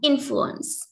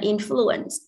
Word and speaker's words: influence: And influence, chứ không phải influence, influence, alright.